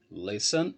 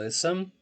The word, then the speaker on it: listen: Precisamos saber quantas sílabas tem, são 2 sílabas, e qual que é a sílaba tônica. No caso aqui é a primeira.